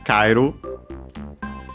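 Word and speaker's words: 帰る: In this case, definitely on the first syllable, Kairu, because of what I mentioned about the accent staying on the syllable, and so actually on the first vowel of the diphthongs.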